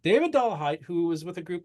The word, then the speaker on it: Dollahite: asked you at a time how do we pronounce that dollah height doah height David doah height who was with a group called American families